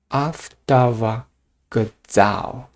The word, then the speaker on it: автовокзал: And in Russian, it's автовокзал, автовокзал. This k pronounced as g here.